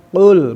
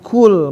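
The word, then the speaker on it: قُلْ: Itu saya pengin sih pengucapan qul bukan qul. Nah, tapi ya lidah masih belum tahu gitu. Si qul teh qf teh huruf al istilah huruf terangkat. Nah, biar katakanlah gitu kan. Jangan kul makanlah jauh pisan.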